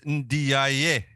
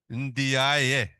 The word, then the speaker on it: Ndiaye: And then Sidi, I'm going to be accused of pronouncing Sidi's surname wrong, like Greg was earlier. So it's Ndiaye. Is that right? Ndiaye.